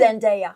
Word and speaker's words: Zendaya: Zendaya.